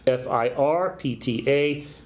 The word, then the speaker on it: FIRPTA: If you're not familiar with FIRPTA, it stands for Foreign Investment in Real Property Tax Act, FIRPTA, pronounced in our industry as FIRPTA.